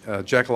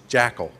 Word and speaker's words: Jekyll: Jekyll Island, Georgia, or my wife likes to point out when I say it really quickly, I say it like we always said it. It wasn't Jekyll Island, it was Jackal. It was Jekyll Island, Georgia.